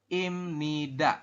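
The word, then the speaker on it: 입니다: di sini di sampingnya, maka si biep dibacanya itu bukan biep tapi dibacanya adalah m. Jadi kita bacanya im seperti ini ya. Kita bacanya imnida seperti itu.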